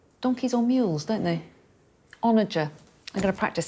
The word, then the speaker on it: onager: I don't know how to say this word. Is it onager? Apparently it is.